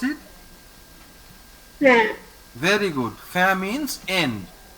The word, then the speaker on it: fin: If there is inside a word any one of this group of letters, IN, AIN, AIM, EIN or EIM, any one of them inside a word, we pronounce it as an.